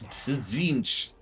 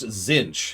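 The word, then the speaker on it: Tzeentch: Because it's not spelled how it sounds at all. T-Z-inch, Zinch.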